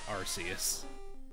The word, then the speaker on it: Arceus: said arceus so it's not like i'm cheating it's spelled out arceus all right i'm not even gonna wait